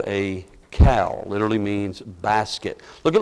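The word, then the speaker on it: caul: It's cow, C-A-U-L, cow. I think that's how you pronounce it, best I could learn today.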